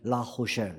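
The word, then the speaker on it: La Rochelle: 도시 이름이 라로셀이라는 도시였어요 프랑스 사람들은 이제 알짜 발음을 알짜로 안 하고 히자 바람 하기 때 라호쉘 이렇게 보는데 아무튼 라로셀이라는 지역에서 그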